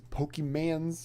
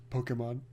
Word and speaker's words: Pokemon: He's like, I got these Pokemans or whatever. It's like Pokemon.